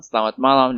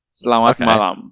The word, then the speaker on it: selamat malam: Selamat malam. That was good. Malam. See? Selamat malam. It's not selamat malam with a T.